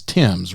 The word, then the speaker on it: Thames: and before we go any further I did pronounce the last name right it's Tims right you got it right great because it's